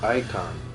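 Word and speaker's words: Eikon: few days YouTube now so it's pronounced icon that was Eon ion all right wait what's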